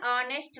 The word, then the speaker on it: honest: He is an honest man and hasn't got a house of his own. An honest man, honest, H is silent here, sound start with O sound.